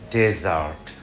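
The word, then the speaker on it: desert: হয় ইংরেজিতে আমরা বলি ডেজার্ট বাংলাতে মরুভূমি যেহেতু এটা নাউন প্রথম সিলেবলের উপর জোর পড়বে বেশি ডেজার্ট ডেজার্ট শব্দটা এডজেক্টিভ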